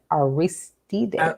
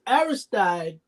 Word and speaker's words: Aristide: Haitian former president, um, and I'm going to pronounce this, John Bertrand Aristide? Aristide, Aristide.